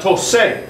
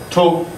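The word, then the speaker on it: toqué: So you have tose, that's no good. We need the hard C again.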